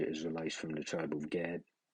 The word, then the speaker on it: Gad: All the treaties that he made with the so-called Native Americans, which are Israelites from the tribe of Gad, which in the Hebrew tongue is pronounced God, right?